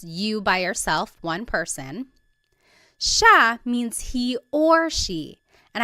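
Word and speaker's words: siya: be pronounced CA but it's actually pronounced Sha Sha there are some regions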